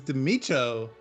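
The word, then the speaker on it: The Mico: just learned this recently how to pronounce his name is Timmy Cho joining us in facebook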